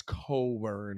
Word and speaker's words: Cockburn: his name is cockburn though it's coburn now it's coburn it's coburn is silent the ck is silent dog you got a